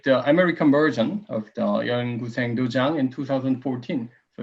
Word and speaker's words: 연구생 도장: Go school, which is called, very difficult to pronounce, in fact, 연구생 도장. 연구생 도장, it's not easy.